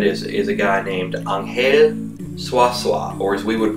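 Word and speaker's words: Ángel Zuazua: one such friend is is a guy named anel swasa or as we would pronounce it Angel um because that's the way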